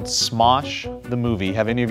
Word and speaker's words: Smosh: It's called Smosh the Movie. Have any of you guys heard of Smosh? How do you spell that? Smosh, S-M-O-S-H. That's what I thought you said. Sounds like smoosh. S-M-O-S-H, smosh.